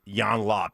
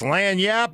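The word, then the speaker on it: lagniappe: It'd be like if he said Jan Lop, he'd probably say it like Sean Payton, right? Wrong, incorrectly. Lanyap. It's Lanyap over here.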